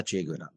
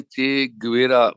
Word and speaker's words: Che Guevara: एक तो मैं आपसे ये कहूंगा कि हम लोग भारत में चे गुवेरा बोलते हैं, वो गलत है। चे गेवारा, ये बहुत ही साफ साफ उच्चारण वहां पर है, क्योंकि मैं क्यूबा भी